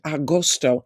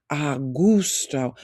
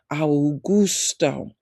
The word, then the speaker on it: Augusto: The month is Agosto, and the person is not Agosto, Augusto, Augusto. So just remember that U makes the U sound.